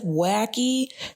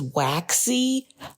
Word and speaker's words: Waxy: So I had actually said Wacky. Her name is Waxy.